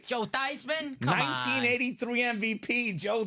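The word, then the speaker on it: Theismann: be a Heisman Contender let's change that pronunciation of your name to thyman O So it was thyman for the Heisman whoa he did not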